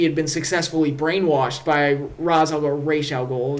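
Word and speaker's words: Ra's al Ghul: been successfully brainwashed by Raz Raol is the correct pronunciation but whatever. um where Rosal go successfully brainwashed Oliver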